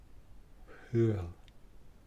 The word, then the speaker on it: Hwyl: Hwyl. Hwyl. And that means bye-bye. Goodbye. Hwyl. Like Howl's Booth and Castle.